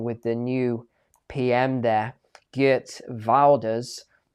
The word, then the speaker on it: Geert Wilders: They were going to cut the funding with the new PM there, Geert Wilders, as I'm told his name is pronounced. Apparently I pronounced it wrong before, right?